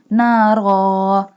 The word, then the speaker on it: نارا: Ra has two fatha sign, but we stop here and doesn't pronounce two fatha sign because next to ra is jim, little jim.